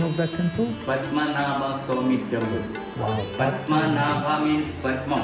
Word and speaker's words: Padmanabhaswamy: Padmanabhaswamy Temple.